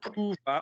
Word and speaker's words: pouvoir: So could you please place the OU in the right part of the chest? Devoir. No. No, my darling. We're on pouvoir, but I want it said pouvoir on the tummy.